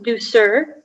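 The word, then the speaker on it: douceur: so the word is do sir there's a slight variant on the pronunciation it can be sir or sir it's a noun uh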